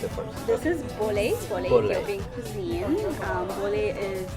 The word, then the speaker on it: Bolé: So this How do you is pronounce it first? this is Bolé Bolé.